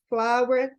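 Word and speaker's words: flour: exemplo nós redundância Oi é a palavra flower escrita como FL O U ur que significa farinha e a pronúncia é exatamente a mesma então É bem interessante aí a gente sempre lembrar que às vezes a gente quer inventar uma pronúncia para que seja diferente às vezes realmente não é é a mesma pronúncia tá bom vamos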